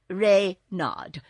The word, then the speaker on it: Reynard: is king reynard iv rey nod with the accent on the reign what's wrong asked button